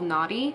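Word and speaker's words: Knotty: This one's called Naughty. It's spelled K-N-O-T-T-Y, if anyone was wondering.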